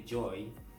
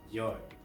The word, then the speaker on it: Djoy: Kalau kalian enggak tahu Joy, The Joy, Joy atau The Joy gua enggak tahu bacanya. Tapi kalau gua bacanya Joy jadi D-nya enggak dibaca.